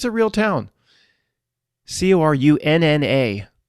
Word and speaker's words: Corunna: Corunna, pronounced just like the same thing, Ontario.